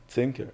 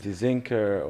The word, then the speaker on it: Tzinker: Tzinker. How do people usually say it? They struggle with my silent T in the front. So they usually like Tzinker, or they ask me how I spell it.